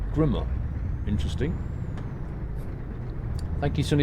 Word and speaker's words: Grimme: Sunny DS uh FYI it's pronounced Grimmer not Grim Grim is a real company that produced beetroots and potato Pickers and other fly machines German company Grimmer is that the P German pronunciation grimma interesting thank you Sun